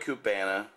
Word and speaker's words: Cuba: His dad, Ernesto Perez Carrillo Sr., started LaGloria Cubana in Havana, Cuba. And that's how you really pronounce it, Cuba. It's not Cuba, it's Cuba.